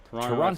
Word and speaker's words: Toronto: Oh, Toronto FC for a very long time. And Alan pronounces it like an American, pronouncing all of those T's when everyone knows it's actually just the first one that's pronounced.